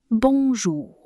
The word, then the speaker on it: bonjour: So, as I was saying, remember to emphasize the last syllable of French words. So far, we've had bonjour. Bonjour.